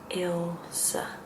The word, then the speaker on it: Elsa: My name is Elsa and you pronounce the first letter the I as an I like intro. That's how you pronounce it. And the E is a um in Dutch. So eventually what you end up with is Ilsa.